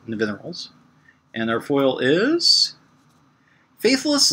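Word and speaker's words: Nevinyrral: If you're curious as to how to pronounce it, you could say Larry Nivens, but you want to say it backwards, so Nivineral's.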